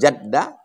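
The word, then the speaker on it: الجد: ini aljadu Allah Man Jadda Bil Jim cara membacanya jimnya baris Fatah jad artinya alhzu Hadu artinya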